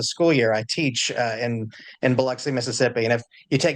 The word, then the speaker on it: Biloxi: I teach in Biloxi, Mississippi. And if you take nothing else away from what I'm saying here, please know that it is pronounced Biloxi and not Biloxi like outsiders tend to do.